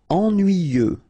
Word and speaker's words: Ennuyeux: Ennuyeux, okay, final X, not pronounced, and then the same concept, en, nuit, yeux, ennuyeux.